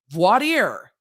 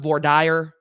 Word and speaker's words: voir dire: we got us some voir dire. It's time for voir dire. Voir dire. Depends on where you are, on how that is pronounced, but voir dire.